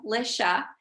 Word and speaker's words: Alicia: alicia and um my name always trips people up so it's pronounced uh lisha but you can call me lish or ish like my family does if that is easier